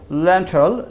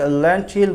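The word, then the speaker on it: lentil: মসুর ডাল থেকে আমরা বলেছি ল্যান্টল। ল্যান্টল অর্থ কি মসুর ডাল। এটাকে আমরা অনেকে ল্যান্টিল বলি, তো কিন্তু এটাকে উচ্চারণ করা হচ্ছে ল্যান্টল।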